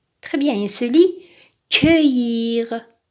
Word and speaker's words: cueillir: Attention ici, on a un U devant C, mais on le prononce E. Pourquoi? Parce que normalement, nous avons un E ici. Nous avons E, U, ça se prononce E. Mais pour la phonétique, pour que C ait la prononciation que, on a inversé le E et le U. Donc, on a commencé par U, ensuite E.